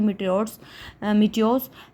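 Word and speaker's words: meteor: मीटियो क्या होते हैं, इनकी एग्जैक्ट प्रोनाउंसिएशन पर मीटियो मैंने सर्च किया था। ठीक है, मीटर्स नहीं बोले इसको, मीटियो।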